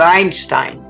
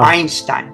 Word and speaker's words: Einstein: Does that E sound? No. Einstein. It doesn't sound. It's silent. Yeah. The first sounding letter is I, not an E, but it's spelled with the E.